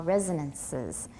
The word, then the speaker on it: resonances: good resonances good and don't say ra make your mouth really small resonances okay go ahead we